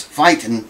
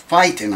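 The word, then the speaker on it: Feiten: they call the buzz fighting tuning? I think that's how they pronounce it. F-E-I-T-E-N or something like that. F-E-I-T-E-N. Fight. It's pronounced fighting, I think, but it's spelled funky.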